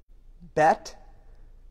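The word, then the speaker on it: בית: Bet, you see this all the time in synagogues. They will spell it on the sign, Beth, B-E-T-H. But pronunciation-wise, it's B-E-I-T. It means house.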